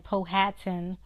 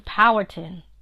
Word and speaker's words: Powhatan: and that's how the elders are not away pronounce it I know people keep saying Powhatan Powhatan it's not that's not Powhatan like Manhattan